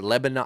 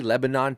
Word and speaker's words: Lebanon: I see Lebanon, Tennessee. Yes. Is it Lebanon? I think it's Lebanon. I think you're Lebanon. right. It's spelled the same way, right? We're going to say it the American way.